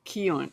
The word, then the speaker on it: Keown: Keown. Not bad. That's close. Keown. Imagine that it rhymes with moan and groan and bone and stone.